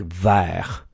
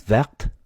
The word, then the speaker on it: vert: But once you get to a silent consonant, like vert, that's when these are now sounding different in the feminine. So vert becomes verte, vert becomes verte over here.